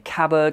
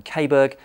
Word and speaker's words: Caberg: if you're wondering why I'm saying cabber in this video rather than cber then there's a very simple reason for that turns out I've been saying it wrong for more than 20 years so after someone who